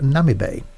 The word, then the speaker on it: Namibe: time which I've just been told is the pronounced Nami Bay we flew into here from st.